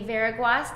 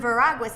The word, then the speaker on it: Veraguas: And so I have with me today Veraguas. Did I get it right? It's funny, I say Veraguas. Veraguas. Yeah, but I was in Spain, it's a Spanish name, and I would say, I'm Veraguas, and they go, sí, Veraguas.